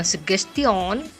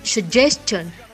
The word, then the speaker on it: suggestion: pelafalan yang kurang tepat seperti sejak chun sejak john itu bukan dibacanya suggestion tetapi sejak john sejak john kemudian search